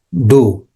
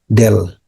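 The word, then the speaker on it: ∂: Turunan parsial dibacanya do. Do itu DHO nih. Do dibacanya. Jadi ini seperti huruf D gitu ya. Seperti huruf D. Ini kayak A malah ya. Seperti huruf D. Nah, ini bacanya adalah do ya. Atau ada juga yang membaca dengan del.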